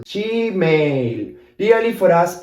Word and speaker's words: Gmail: So in Argentina, we don't say Gmail, but we say she. This is the Argentine pronunciation. I know it's funny, but this is the way we say it. This G here, we say she, because we don't really know English, so we pronounce it our way, you know? So we say she, and then mail is exactly the same. Mail, Gmail.